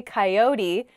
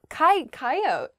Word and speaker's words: coyote: next word is coyote i say coyote how do other people say this word coyote oh yeah coyote i don't say that a coyote is